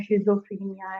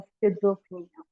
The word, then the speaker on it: schizophrenia: ठीक है, इवन हम इसको प्रोनाउंस भी रॉन्ग कर रहे होते हैं, शिजोफ्रीनिया एंड all that. Basically it is pronounced as स्किज़ोफ्रेनिया।